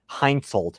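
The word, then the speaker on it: Hensoldt: a accuracy international like full package with a heinzolt yes i think you pronounce it correct with a scope it's basically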